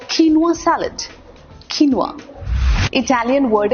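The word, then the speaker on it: quinoa: दलिया नहीं खा रहे क्यू यू आई एन ओ ए एक ऐसा क्रॉप का बीज होता है ये जो बड़ा हेल्दी माना जाता है नुवा इट्स कॉल्ड नुवा सैलेड नुवा इटालियन वर्ड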